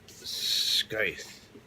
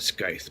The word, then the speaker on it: Scythe: And last but certainly not least, I read this, Scythe. I call it Scythe, but the narrator kept pronouncing and not pronouncing the C at all, Scythe.